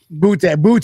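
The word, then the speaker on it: Boutte: Butte. That's how you pronounce his name.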